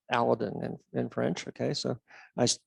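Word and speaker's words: Aladin: of some of the big telescopes aladdin or aladdin as it's pronounced the the french shelliac crew came over and i asked francoise and how the heck do you say this and it's aladdin in french okay so i sat corrected access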